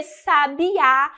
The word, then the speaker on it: Sabiá: para marcar isso porque Sabiá a sílaba tônica de Sabá é a última ó Sabiá tem até o acento aí para indicar a tonicidade Então conta aqui lembrando